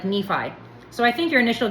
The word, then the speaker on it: Nephi: It was probably pronounced Nephi, but readers of the Book of Mormon pronounce it like Nephi.